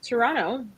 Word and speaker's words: Toronto: too am based in Toronto the t is silent and I love raccoons raccoons why I don't I really don't I just I think the most Toronto thing that I could